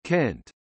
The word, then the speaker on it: Cent: Cent, Cent Lond, Centries, all pronounced with a hard C as Kent.